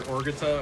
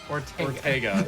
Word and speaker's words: Ortega: Yeah, or Orgetta, or how do you say his name? Ortega.